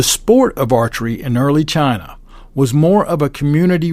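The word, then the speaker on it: zhi: Part 1 is titled Position, Discharge, and Chi. That is spelled Z-H-I. It's a Chinese term that we're going to talk about here in just a moment.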